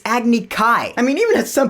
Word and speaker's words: Agni Kai: challenged you to an Agni Ki. I was like, wait a minute, what? It's Agni Kai.